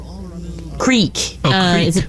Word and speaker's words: Creek: The Cree, you say? Creek. Oh, Creek. Is it pronounced Cree?